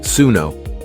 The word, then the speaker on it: Suno: The name Suno is pronounced Suno, and it comes from Punjabi and Hindi. It means to listen.